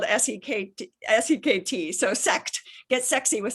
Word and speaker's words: Sekt: A discovery is German Sekt, and that's spelled S-E-K-T.